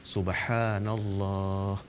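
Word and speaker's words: سبحان الله: bagaimana, maka imam menyaringkan subhanallah, subhanallah, subhanallah. Jadi dipanjangkan pada dua tempat, pada ha dan pada Allah.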